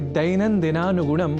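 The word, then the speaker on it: दैनन्दिनानुगुणम्: प्रत्यक्षतः भवतः परोक्षतः च संस्कृतं सेवमानः अहमस्मि आगतः दैनन्दिनानुगुणं नारायण दत्त मिश्रः। आपने ध्यान दिया होगा कि दैनन्दिनानुगुणम बोलने के क्रम में मैंने ऐ इस अक्षर का विशेष रूप से उच्चारण किया है, क्योंकि संस्कृत में अक्षरों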